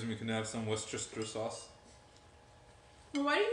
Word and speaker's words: Worcestershire: The key to saying it is to ignore how it's spelled and only say a few of the syllables.